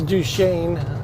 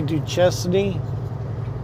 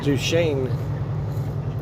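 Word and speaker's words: Duchesne: this is Du Shane I used to say D chesy I couldn't really cuz way that's how it's spelled but uh after dealing with the local Yos realiz do Shane probably Indian name so that's the intersection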